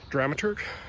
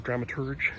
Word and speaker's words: dramaturg: form of what's called a dramaturg, or dramaturge, depends how you like to pronounce it.